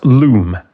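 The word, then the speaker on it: loam: That's loom. L O A M. Some parts of the world pronounce it lom.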